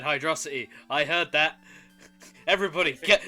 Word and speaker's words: Hydrocity: with hyde hydrous yeah ah you nearly said hydrocity i heard that everybody get everybody get him the correct pronunciation is hydrosity no it's not it's hydro city i will uh uh nerd glasses it's uh